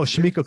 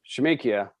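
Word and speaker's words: Shemekia: records with her i thought no um oh shimiko copeland shamikia thank you copeland two records with her we're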